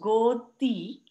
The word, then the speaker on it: godi: Godi, pronounced godi, is a traditional hand-stitched quilt made of recycled material, usually soft old cotton saris.